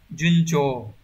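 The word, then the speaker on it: 順調: Đọc là junjo.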